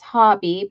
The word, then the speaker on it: Hobbii: called Hobby and uh Stephen and Matt both confirmed it's hobby but it's spelled h o BB I I and laurena Jones hello